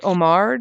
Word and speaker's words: homard: trap or whatever is it supposed to be Omar Lobster you're not supposed to pronounce the a H because like Omar Holdings